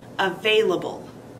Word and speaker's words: available: Available has four syllables. A-va-la-ble. Emphasis is on the second syllable. Available.